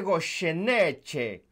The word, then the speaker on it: Goyeneche: Cristian, ¿cómo se dice esto? Me dice, mira, se dice Goyeneche, apréndetelo.